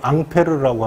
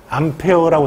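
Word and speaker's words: Ampère: 암페어라고 하는데 영국식 발음, 미국식 발음이 암페어여고요. 원래 프랑스 지들 말대로 보면 앙페르예요. 앙페르. 앙페르라고도 하고 암페라고 하는데 보통 미국식 발음을 쓰죠.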